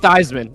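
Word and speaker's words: Kornheiser: Yeah, it rhymes with with Eisman.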